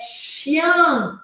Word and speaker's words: chien: Que é parecida, mas é um som mais aberto. Essa aqui eu vou anotar em amarelo, tá? É chian.